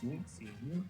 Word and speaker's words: Uxie: It's Uxie. Uxie. I say Uxie. See. If you say Uxie, we're going to have a problem.